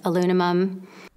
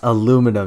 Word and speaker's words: aluminum: any harm there was alumimum Excuse Me Miss what did you say alumimum it's pronounced aluminum you piece of [